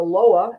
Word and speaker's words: Loa: He's a psychic reader, a medium, and serves the ancestors and the Loa. Again, am I pronouncing that correctly?